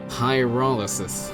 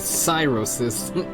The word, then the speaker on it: pyrolysis: Such pyrolysis. I was calling it cyrosis.